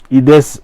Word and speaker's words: Aides: Comment vous prononcez votre nom? Ides ou Aides? Ides ADC.